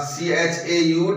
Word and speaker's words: chauffeur: The CHAUFFEUR, what is the pronunciation of this word?